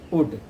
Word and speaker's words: would: Here L is silent, students. We cannot read it could. That is could, and that is would.